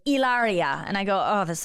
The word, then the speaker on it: Hilaria: and I was like is it Hilaria and he was like ilaria and I go oh